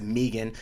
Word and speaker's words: Megan: results from last night Megan Anderson or I guess it pronounced at Meegan Meegan Anderson and Felicia